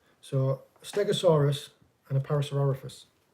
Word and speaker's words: Parasaurolophus: Parasaurolophus. Parasaurus. And that's one of them ones with like a spike on the back of its head, isn't it? Yeah. So, a Stegosaurus and a Parasaurolophus.